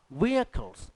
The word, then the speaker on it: vehicles: A mechanic repairs අලුත් වැඩියා කරයි our vehicles. මේක vehicles නෙමෙයි. ඔය එච් අකුර ශබ්ද වෙන්නේ නැහැ.